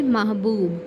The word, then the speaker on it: محبوب: پاس لفظ ہے محبوب۔ درست تلفظ ہے محبوب۔ میم مفتوح، ہے ساکن، بے مضموم، واو اور بے ساکن۔ اب اس کو دیکھتے